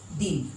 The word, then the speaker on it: दिन: जैसे देखिए बच्चों यहाँ पर दिन, इसका उच्चारण क्या होगा? द में छोटी न दिन, दिन। इस दिन का मतलब होता है दिवस, दिवस। और ये दिन खींचकर बोल रहे हैं, दिन, इसका मतलब हो गया गरीब।